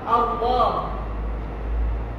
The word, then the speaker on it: Allah: Cuma dibacanya dengan tebal Allah.